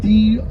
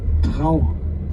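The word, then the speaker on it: Dragør: So in Danish, this village is spelled D-R-A-G-O-R.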